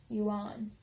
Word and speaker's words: Yuan: dynastic title the Yan spelled why you a and I'm gonna say un yuan although he was still